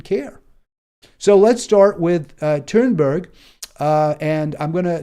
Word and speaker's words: Thunberg: heard it pronounced, so I understand this is how you pronounce it, Thunberg, in kind of my Americanized accent.